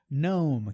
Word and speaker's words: gnome: Gnome, que é o gnomo, né? Pneumonia. Esse GN também a gente tira o G ali.